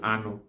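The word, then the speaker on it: anụ: Then meat in Igbo land is called anu. Anu is spelled as aneo, anu.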